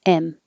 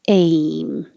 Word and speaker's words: aim: If you don't rise and your tongue stays flat, it will sound like M instead of aim.